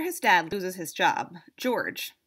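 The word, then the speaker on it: Georges: dad loses his job George that's with a silent s has to move to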